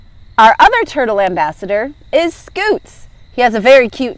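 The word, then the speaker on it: Scutes: other turtle ambassador is scoots he has a very cute name but I bet it's spelled differently than what you're thinking SC u t e s a scoot is a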